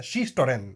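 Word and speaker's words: Shishitoren: शीश टोरेन या शीशी टोरेन स्पेलिंग में शीशी टोरेन बट शीशोरेन अब इस गैंग के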